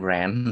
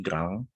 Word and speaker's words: grand: Bacanya bukan grand tapi grand ya.